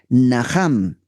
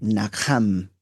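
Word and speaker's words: נחם: Esta palabra en hebreo es la palabra Naham. Naham se escribe Nakjam. Naham.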